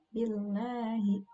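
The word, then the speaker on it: بالله: Lamnya tipis, tarkik ya, billahi. Nah, yang berikutnya yang sering terjadi kesalahan itu huruf a yang tidak jelas dibunyikan. Bunyinya menjadi a'udzu billahi minasy.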